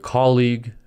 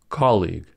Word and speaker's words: colleague: sound modification words like colleague and prologue are two syllable words as the ending u e is silent this is why league